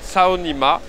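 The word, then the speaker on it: 草泥马: Parce que Alpaga, il faut savoir qu'en chinois, ça se dit Tsao Nima. Et si tu prononces un peu différemment, genre Tsao Nima, ça veut dire nique ta mère en chinois.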